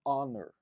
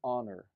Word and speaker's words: honor: Já aqui, nessa outra palavra, an honor. O H não tem som, por isso prevalece o som do O, que vem em seguida. Por isso eu pronuncio an honor e não a honor.